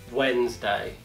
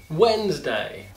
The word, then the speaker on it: Wednesday: A letra D nessa palavra é uma silent letter. Então, pronúncia seria Wednesday. Wednesday.